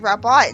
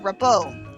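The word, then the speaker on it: Rabbot: And it turns out kids have been teasing her saying that her last name is Rabbit instead of Rabot. It's so annoying that it's not pronounced Rabot for real.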